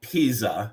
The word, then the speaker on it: pizza: pizza, it sounds like there's a T in there. Pizza. It's not pizza because that's a city in Italy. It's pizza. So, calzone is the same word. It's not calzone. It's calzone. It's you pronounce the Z in calzone the same way you would in pizza.